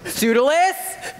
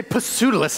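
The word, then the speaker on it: Pseudolus: have known hero Master sudal yes pis pronounced perfectly you know sometimes people say pudus and I hate that hero hero go show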